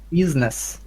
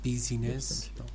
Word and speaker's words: business: to make an immediate immediate decision okay correction business yes business not busyness okay business yeah it's actually so weakly pronounced not busyness right and why was it